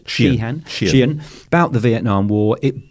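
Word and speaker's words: Sheehan: a bright shining Li Neil shean is how you pronounce it shean about the Vietnam War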